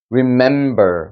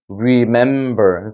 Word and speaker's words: remember: remember, 그죠? remember. 그러니까 약했다가 강해졌다가 다시 약해지는 구조예요.